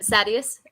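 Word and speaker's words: Sadeas: you're on mute but sadius okay that's what the audiobook says if you want to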